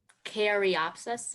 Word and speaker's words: caryopsis: Caryopsis, I'm saying it right?